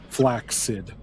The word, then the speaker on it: flaccid: speaking, historically, when you have a word like that in English, where you have two of the same syllables or two of the same letters, you typically would pronounce that first one and or two of the same like C letter if it's like from Latin. You typically say flaccid.